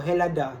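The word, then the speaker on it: Ελλάδα: Greeks themselves most commonly refer to the name as Hellas, which is old-fashioned term, or Hellada, pronounced with a silent H.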